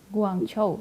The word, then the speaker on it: Guangzhou: kalau yang kita baca, kalau cara Cina membacanya Guangzhou ya. Guangzhou, oke.